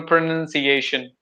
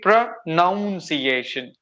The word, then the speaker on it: pronunciation: of course the same but some people they take it prounciation they call it noun n u n but there we have to take it like pronunciation okay pronunciation see why